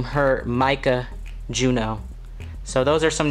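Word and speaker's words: Juneau: right now on my list of names are Juno pronounced it's spelled the way that the capital of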